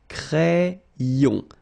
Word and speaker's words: crayon: So like if you would have I here, A-I, cré, and then another E here, ion. Crayon.